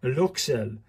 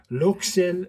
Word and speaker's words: Luxeuil: it so it's look I got pronunciation from a French pronunciation website and this is luel luel minuscule from the seventh